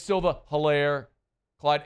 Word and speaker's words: Edwards-Helaire: yet it's still the Hilaire, Clyde Edwards-Helaire. No, Clyde Edwards-Helaire. That's it. Long E.